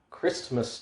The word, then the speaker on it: Christmas: bad point it is christmas time chris i think the tea is silent it is christ's mass